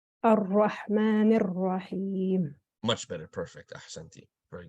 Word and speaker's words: الرحمن الرحيم: That ra, it seems to be pronounced as a wow. It says Ar-Rahman Ar-Rahim. Ra, ra. Ar-Rahman Ar-Rahim.